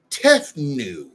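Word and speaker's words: Tefnut: demon in greek mythology called tethnue with the t silent t e f n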